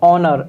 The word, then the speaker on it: honour: Next word is ऑनर, HONOUR, ऑनर। इसमें H silent होगा। Okay, तो इसको हम हॉनर नहीं पढ़ेंगे, क्या पढ़ेंगे? ऑनर पढ़ेंगे।